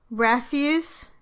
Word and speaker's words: refuse: In all of these words, the word is a noun when the stress is on the first syllable, and a verb when the stress is on the second syllable. Listen. Contest versus contest. Refuse vs refuse.